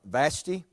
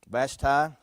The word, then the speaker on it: Vashti: time is a hazaris the queen is uh vashti bashtai i've heard some pronounce it you've got the chief adviser to